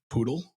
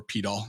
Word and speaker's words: PDAL: the initial versions of poodle or pedal any pronunciation fine it's got the same